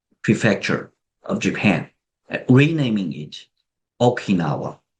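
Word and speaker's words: 沖縄: of Japan, renaming it Okinawa. This is the Japanese pronunciation of Uchina.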